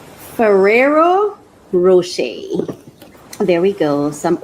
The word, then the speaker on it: Ferrero Rocher: So the first thing I'm going to share with you is my Ferro Rocher. That's how is that how it's pronounced? Ferrero Rocher.